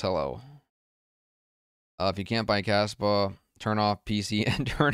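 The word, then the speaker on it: Kaspa: We know Caspa means dandruff in Spanish, but it's spelled with a C. So it's pronounced the same, but it's spelled differently.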